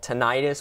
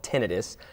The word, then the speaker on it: tinnitus: called it's called tinnitus it's often called tinnitus but that's a slight mispronunciation so it's called tinnitus and that's when you